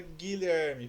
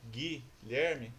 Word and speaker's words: Guilherme: Mas professor, lá na palavra Guilherme, por que que aí eu tenho menos fonemas do que letra? Porque na palavra Guilherme, você não pronuncia o U.